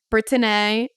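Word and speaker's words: Britteny: y so britan Jesus that's how I would pronounce it brittin and chance so chance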